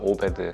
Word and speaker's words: OBed: 또 영어만 보면 오베드라고 읽어야 되는 건지. 저희는 침대에 맞고요. 오베드. 편안한 침대는 과학이다.